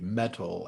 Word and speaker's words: Mettle: so mental health first it's spelled m-e-t-t-l-e metal as in like one's inner strength one's inner reserve so